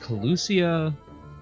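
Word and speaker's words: Kholusia: safe travels to you all so yeah it's pronounced collucia uh we got one there one i'm wrong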